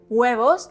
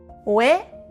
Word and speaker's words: huevos: Remember that the Spanish H is silent and that the V is pronounced like a soft B.